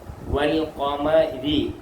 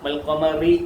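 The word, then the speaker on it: وَالْقَمَرِ: വ കണ്ടോ ഈ അലിഫിന് ഉച്ചാരണമില്ല അലിഫിനെ ഒന്നും പറയത്തില്ല ഉച്ചരിക്കത്തില്ല മൊഴിയത്തില്ല ആ ഇ ഉ എന്നൊന്നും പറയത്തില്ല വ എൽ വൽ കണ്ടോ വൽ വൽ വ കാഫ് വ കാഫ് വ മീം മ റാ രി കണ്ടോ എഴുതിയേക്കുന്ന റിന്നും പറയേണ്ടത് രിും വൽകമരി കണ്ടോ വകമരി എന്ന് പറയത്തില്ല പറയത്തില്ല പറയത്തില്ല മുഴിയത്തില്ല വൽകമരി വൽകമരി വൽകമരി ഫരിഹ ഫരിഹ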